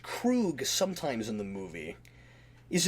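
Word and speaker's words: Kruge: now you and I have always pronounced it crude it's pronounced Krug sometimes in the movie is it always pronounced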